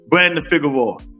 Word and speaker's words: Brandon Figueroa: Brandon Figueroa. That's how you say it.